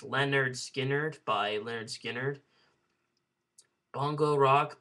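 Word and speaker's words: Lynyrd Skynyrd: Street by Rolling Stones pronounced Leonard Skinner by Leonard Skynyrd Bongo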